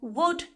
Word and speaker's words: would: This goes the same for would and could. They all have a silent L.